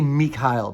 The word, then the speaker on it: Mikael: And Mikhail, I say Mikhail because it's spelled Mikael.